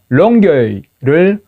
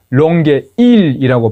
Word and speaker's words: 롱게이: 몬트리올을 몬트리얼로 발음하는 거하고 롱게이를 롱게일이라고 발음하는 겁니다.